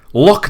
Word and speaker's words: loch: loch is... You keep saying lake. They wouldn't call it a lake in Scotland. It's called a loch.